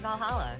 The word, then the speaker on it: VA-11 Hall-A: Excuse me, is this the vall-halla bar? The VA-11 Hall A bar? That's stupid. It is indeed. Welcome to Valhalla. Oh, is that how you spell it? Then just say it that way.